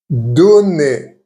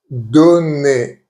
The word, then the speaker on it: donner: Most of the time, it will be pronounced E. E. Examples: bébé, which means baby. Bébé. Donner, meaning given. Donner.